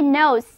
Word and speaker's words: know: 就因为这个，我觉得这个单词很温馨哦。单膝下跪就是求婚了，这是众所周知的。Everybody knows that kneel down means proposal for marriage.